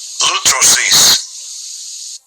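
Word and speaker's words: λύτρωσις: Lutrosis. Lutrosis. Yeah, and that would be the pronunciation in the Greek.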